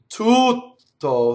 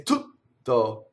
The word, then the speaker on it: tutto: The other mistake I hear is singers cutting the vowel before the double T. So they'll say a word like all, like tutto, that's the proper way to say it, but they'll say tutto, where there's no vowel. So you want a long vowel, tutto.